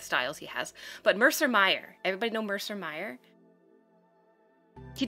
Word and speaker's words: Mayer: meyer meyer yes mercer meyer what do you i used to pronounce it mayer but then i heard somebody say it and it's like mercer meyer maybe it's maybe it's